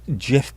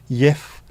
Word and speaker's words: Jif: Because JIF is pronounced in about 20 or 30 different ways in Europe. Jif, Yif, Gif. Everyone pronounced it differently, but everyone pronounces Sif the same.